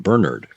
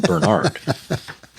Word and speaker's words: Bernard: And you know that because he pronounces his name Bernard, not Bernard.